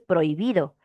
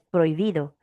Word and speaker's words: prohibido: Tú no pronuncias prohibido. Sí, greis, no. No le tienes por qué hacer una pausa a la h porque no suena. Es prohibido. Prohibido, todo junto.